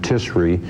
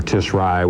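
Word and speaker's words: Tishri: month let me add tisri or tisri whichever way you prefer to pronounce it were a very very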